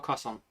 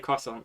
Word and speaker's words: croissant: example weird in America croissants yeah I'd say Joe croissant but I know croissant if I put an accent on it it's the correct one if I say it croissant yeah even for England